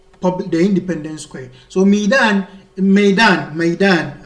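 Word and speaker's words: ميدان: so midan midan midan I mostly pronounce it midan midan maidan which is a field is for the military says the military marged to their field so here it can be the assembly ground maidan my pronunciation before midan the the sometimes the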